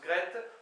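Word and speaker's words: graet: Gret, G-R-A-E-T, mais qui, j'en suis quasiment sûr, se prononce Gret, pour fait, d'accord, le verbe faire conjugué.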